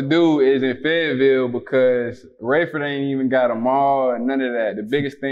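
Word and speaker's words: Raeford: um you're originally from is it rayford north carolina yeah that's how you pronounce it rayford but it's better known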